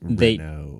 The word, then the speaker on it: Renault: It's pronounced Renault.